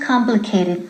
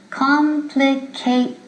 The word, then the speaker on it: complicated: aquila pronunciation pontiff Aloha son cuatro four syllables complicate it don't forget the last syllable not complicate complicated what's the most complicated